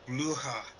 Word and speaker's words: Blücher: And then it's pronounced Blücher.